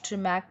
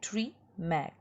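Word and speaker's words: Tschermak: 3 scientist, ह्यूगो डिवरिज, carry Correns, EV ट्रिमैक, इसको आप ट्रिमैक पढ़ेंगे, आप ऐसे याद कर लीजिए, ट्री मैक, ठीक है, इसका प्रोनाउंसिएशन ट्रिमैक है।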